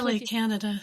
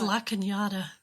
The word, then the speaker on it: La Cañada: If I wasn't coming on air to discuss it's not this LA, Canada. Sorry. It's La Cañada.